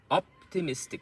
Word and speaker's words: optimistic: So op is also medium loud, but miss is the most stressed. Optimistic. Optimistic. So T-mistic. T-mistic. Optimistic. So you can see the sound optimistic. So the T-mistic is one beat, but in this one it's not the first beat, the first sound that's loudest. It's the middle sound, optimistic.